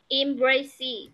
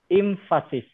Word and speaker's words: emphasis: Emphasis. Infasic.